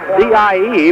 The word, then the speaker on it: Dye: The other forward will be co-captain Ed Dye, pronounced D-I-E, but spelled D-E-Y, 6 foot, 175, a senior.